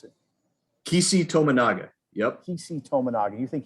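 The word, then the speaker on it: Keisei Tominaga: No injuries, and you think it's Casey Tominaga? Is that how you pronounce it? Kisi Tominaga.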